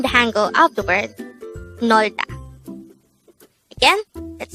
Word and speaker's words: 놀다: Nolda. This is pronounced as a two-syllable word. The first syllable is nol, the second syllable is da. Pronounce it with me. Nolda.